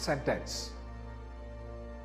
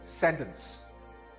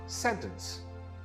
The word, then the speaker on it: sentence: This word is not sentence. The stress is on the first syllable. This is sentence. Again, this word is pronounced sentence. This word is not continuous.